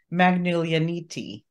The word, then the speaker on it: Magoulianiti: with I want to introduce you to Penelope magnolianiti you said it hello everyone uh I have